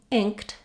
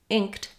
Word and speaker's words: inked: that in ink ink I'm going to hear that burst of air it's an aspirated K it's going to release out when I'm saying Inked Inked I actually can use that same little burst of air but it's very soft because my main burst is going to be on the at the end Inked so you can hear